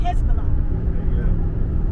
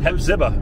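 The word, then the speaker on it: Hephzibah: How do you pronounce it? Hezbollah. Hezbollah? Hezbollah. Hepzibah.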